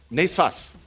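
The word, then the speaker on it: NSFAS: How do you guys pronounce it? Nesfas. Nesfas. There's no U.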